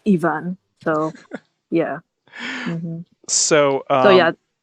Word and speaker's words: Ivan: I still keep saying Ivan because it's the Russian pronunciation. I normally associate the name Ivan with the Russian pronunciation, which is Ivan.